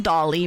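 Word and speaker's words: Dalí: It is Dolly, but it's spelled D A L I.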